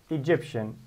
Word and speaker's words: Egyptian: e very good okay egyptian how many syllables three very good where is the stairs there is the stress egyptian egyptian ah so egypt stress number one egyptian stress number two uh so this is